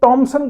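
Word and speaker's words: Thomson: जे थॉमसन को टॉमसन कहा जाता है ना, उसकी जो प्रोनाउंसिएशन टॉमसन है, थॉमसन तो बोलना ही नहीं है, टॉमसन प्रोनाउंसिएशन है।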